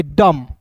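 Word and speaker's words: dumb: शब्द के बीच में आएगा तो यू भी साइलेंट हो गया। क्लियर है? तो इसे हम लोग क्या पढ़ेंगे? डम।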